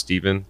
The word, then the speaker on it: Stepin: We found out it was a black actor from the 20s named, it's spelled Stepin, but it's pronounced Stephen Fetchit, who said it in a lot of his movies where he was running away from cops.